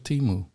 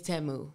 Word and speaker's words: Temu: I thought it was Temu. It's Temu.